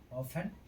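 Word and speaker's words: often: जब किसी वर्ड के अंत में टेन हो तो टेन अर्थात टी हो तो टी का उच्चारण नहीं होता है। ऑफन अक्सर लिसन सुनना हसन जकड़ना सोफन नर्न करना।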